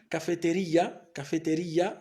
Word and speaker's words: cafetería: a palabras con acento, por ejemplo la palabra cafetería, la palabra cafetería, la última sílaba es la sílaba más fuerte, lleva tilde, la tilde o bien el acento se coloca aquí sobre la i, una cafetería a 2